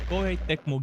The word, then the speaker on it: Koei Tecmo: made a post to make sure i don't mispronounce it so koi tecmo games famous for the atelier series also for